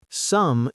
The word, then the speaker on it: some: Some is pronounced some rhymes with come.